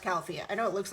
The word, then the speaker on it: Califia: Brands califia they made a whole video It's pronounced califia I know it looks like califia or something that's not how you pronounce it